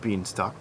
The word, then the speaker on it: Bienstock: His name is Ronald Bienstock. That is how you say his name.